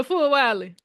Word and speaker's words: Fulwiley: That's how you pronounce her name, Yeah, Fulwiley.